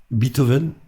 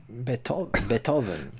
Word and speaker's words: Beethoven: Américains disent Beethoven. Ils disent pas beat. Ils prononcent pas le EE.